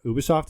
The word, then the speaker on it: Ubisoft: Ubisoft, is that how you say it?